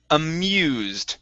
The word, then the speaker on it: amused: Here we have the word amused. So the U here is an EU sound.